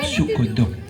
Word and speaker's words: Sugondo: Ya, bacanya Sugondo. Tulisannya memang zaman dulu itu DJ ya.